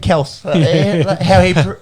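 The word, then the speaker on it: Kelce: So Oh, yeah, he said Kels. How he prefers it to be yeah, well, that's how it's meant to be said. pronounced, apparently. There's no Y on the end of it.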